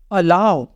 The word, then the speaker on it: allow: अलाउ, यहाँ पे देखो ALLOW, यहाँ पे डब्लू के पहले ओ है, तो यहाँ पे ओ का साउंड छिप जाएगा, इसको हम बोलेंगे अलाउ।